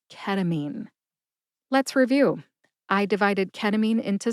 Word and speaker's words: ketamine: I divided ketamine into syllables, told you which syllable to emphasize, and I shared my sources.